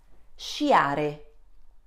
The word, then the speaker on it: sciare: S can be followed by consonant C and vowels E and E. In this case, the sound produced is sh, as in the English word ship. So repeat after me, she, she. Let's have a look at an example. Pesce. Repeat after me, pesce. Sciare. Repeat after me, sciare.